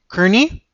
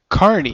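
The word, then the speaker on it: Kearney: the song is nothing to lose by Matt Kerney that's how I thought it was but in my research for uh the show doing the doing our prep I found out it's actually pronounced Carney Carney right Carnival folk with one t actually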